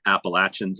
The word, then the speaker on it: Appalachia: uh I don't know a protier for Pennsylvania Appalachians in some ways and telling people did you